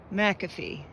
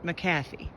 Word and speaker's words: McAfee Knob: from four Pines that it is indeed pronounced McAfee not maffy at least by Joe at least by Joe